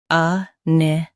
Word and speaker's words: iniquity: INIQUITY. Both US and UK have the same pronunciation of this word. Stress ni. Keep qu soft, then t clear.